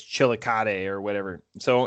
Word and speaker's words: Chillicothe: It's not Chillicothe, it's Chillicothe or whatever.